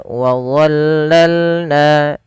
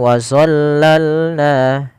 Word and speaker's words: وظللنا: Pada lafal wadzallalna, hati-hati teman-teman di dalam melafalkan huruf dha. Jangan sampai kita membacanya dengan zo. Jangan dibaca dengan wazallalna, karena di sini ini bukan huruf dha. Maaf, bukan huruf zo, tapi dia huruf dha.